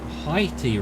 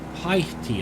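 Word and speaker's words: Haihte: Haiti. I guess you just ignore the other H.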